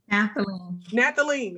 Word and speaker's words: Nathalie: to say it wrong somebody help me say it correctly say it nathalie is that right okay okay every time i look at it i want to say nathan and i know that is incorrect i apologize it's just